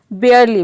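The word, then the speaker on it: barely: इन सभी में हम आर को, र का जो साउंड आ रहा है उसको आधा प्रोनाउंस करेंगे। बेयरली, बेयरली मतलब होता है मुश्किल से।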